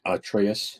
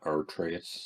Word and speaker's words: Atreus: look at Kratos and Atreus in the God of War series now in production for Prime Video. Their journey to the highest peak begins. There you go. It's actually Atreus, not Atreus.